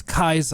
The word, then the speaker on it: Caesar: When you talk about Caesar, it's not Caesar, it's Kaiser, and things like that.